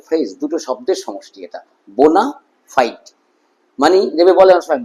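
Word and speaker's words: bona fide: ওয়ার্ডটা, এই এই ফ্রেজটা, এটা কিন্তু দুটো শব্দ নিয়ে গঠিত, বোনা ফাইট, কিন্তু এটা এমনভাবে উচ্চারিত হতে আমি শুনেছি একটা ওয়ার্ড বলে মনে হয়েছে, ছোটবেলা আমার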